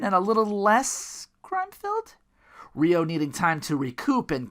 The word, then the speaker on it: Ryo: Might as well take a drink how many times I've mispronounced Ryo's name. Is it Ryo? Ryo? Ryo? It's like Ryu, like Japanese.